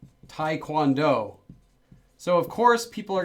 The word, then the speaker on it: taekwondo: Because it was written in English as taekwondo, romanized. It's not Americans' fault for saying it wrong. It's Romanization's fault for writing it as taekwondo.